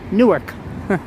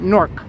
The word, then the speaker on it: Newark: York I pronounce it Newark I give it two syllables whereas Newark residents pronounce it Nork norc like n-o-r-k Newark I guess if